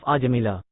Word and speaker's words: Ajamila: Holy Name Story, Story of Ajamila. A story from Srimad Bhagavatam. By His Divine Grace A.C. Bhaktivedanta Swami Prabhupada. There was once a young Brahmana named Ajamila, pronounced Aj-Amil, who was a reservoir of good character and conduct.